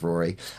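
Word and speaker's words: Ruaidhrí: you know at home r u a i d h r i okay yeah yeah yeah so they don't spell it like Rory um the next one t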